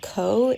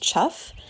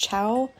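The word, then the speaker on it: chough: So, I think that the bird I was calling co is actually pronounced chuff. And there's some debate online that it might have at one time been pronounced cow. I don't really know.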